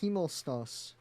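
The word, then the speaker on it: Himmelstoss: Pride y uh um also um uh uh heos heos is how you pronounce his name the mailman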